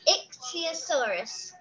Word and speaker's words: ichthyosaurus: ixyosaurus it's really hard isn't it yeah it's ixyosaurus that's it i'm sorry nikki what was the